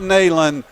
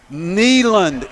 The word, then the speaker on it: Neyland: University of Tennessee General Robert Reese Neyland not nailing Neyland is how it's pronounced look at that getting some class now